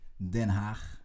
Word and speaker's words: Den Haag: Den Haag, I should say, is the best pronunciation. It's the really Dutch pronunciation.